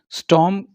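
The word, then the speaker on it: storm: मतलब देखा मतलब एक स्ट्रांग मतलब तूफान ठीक है स्टॉर्म इसमें आर साइलेंट होगा स्टोर नहीं बोलेंगे आईटी इसे स्ट्रांग सी मिंस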